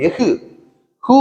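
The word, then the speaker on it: எஃகு: அரை மாத்திரை இருக்கு தனியா ஆனா இந்த எகு அப்படின்னு சொல்லும்போது எகு ஹு தான் வருது இடையில இருக்கிற அந்த ஆயுத எழுத்து லேசா உச்சரிக்கப்படுது அரை மாத்திரை அளவு உச்சரிக்கப்படல கால் மாத்திரை அளவுதான் உச்சரிக்கப்படுகிறது இதைத்தான் ஆயுத குறுக்கம்னு சொல்றாங்க இந்த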